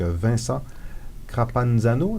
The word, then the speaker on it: Vincent Crapanzano: Passion politique, qui est un ouvrage collectif que vous avez dirigé avec Vincent Crapanzano. Est-ce que je l'ai bien prononcé?